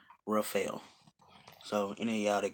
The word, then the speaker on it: Rafael: His name is pronounced Dr. Rafael.